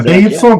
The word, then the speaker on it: BYD: Mas a pronúncia é BID mesmo? É BID? Não, é BYD. As pessoas falam BYD.